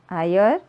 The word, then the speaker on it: higher: तो यहाँ पे एच इज साइलेंट. उसका आवाज़ नहीं आता है. सो नाउ it has become E sound, higher. That's why and higher.